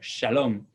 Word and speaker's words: shalom: Esto no existe en español, pero existe en latino. Por ejemplo, shalom es hola en latino.